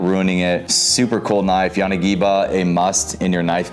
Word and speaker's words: Yanagiba: All right, so next up, Yanagiba or Yanagiba. I've heard it pronounced so many different ways, but I pronounce it Yanagiba.